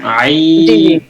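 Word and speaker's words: عين: একটু ভিন্ন রকম যেরকম আইন কলার ভিতরে নিতে হবে টানও দিতে হবে আইন এই যে এটা আইন আইন আইন আ টান দিয়ে টানটা শুরুতে হবে না মাঝ থেকে শেষ পর্যন্ত হবে আইন আই আইন হইছে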